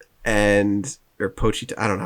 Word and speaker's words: Pochita: And he makes friends with this little chainsaw dog demon thing that he calls Puchita. Or Pochita. I don't know how the fuck you pronounce it. Yeah, Pochita.